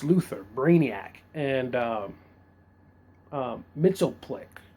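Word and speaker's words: Mxyzptlk: Brainiac and um um mitop Plick that's how you say his name mitop is probably Superman's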